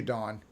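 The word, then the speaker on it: Dohne: is good oh her name is thank you dawn a dawn's name is spelled d-o-h-n-e and it's dawn thank you see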